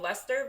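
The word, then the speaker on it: Leicester: one too it's called it's called lester but it's spelled like lycaster it's like l-e-i do you know how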